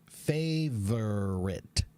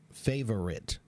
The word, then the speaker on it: favorite: pronouncing the word favorite favorite favorite favorite and if you're if you're listening to a lot of you know English native stuff you might hear it without the O as pronounced but you want to